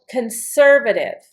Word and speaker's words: conservative: So conservative I'm accenting the sir.